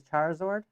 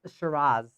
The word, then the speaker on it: Shiraz: This one's name is Charizard. It's Shiraz. Shiraz?